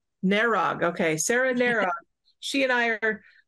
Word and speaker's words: Narug: Narug. Narug.